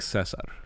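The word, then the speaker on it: César: I like Cesar. That's how you say it in Spanish.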